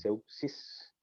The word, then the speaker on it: Zeuxis: La primera S no es S, sino un Z. Como Zeus, como el dios Zeus. Exacto, pero este es Zeuxis, es un pintor griego clásico, de la era clásica griega.